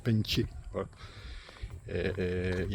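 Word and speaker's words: Bến Tre: le véritable nom c'est bentier c'est ça s'écrit ben TR ça se prononce bentier voilà et il y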